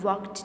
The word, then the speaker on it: walked: Hamza and Azlan walked to school. In walked, there is al, but we are not going to pronounce it. It means it is silent.